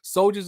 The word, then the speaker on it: Souljhz: Soldiers is spelled SOULJHZ.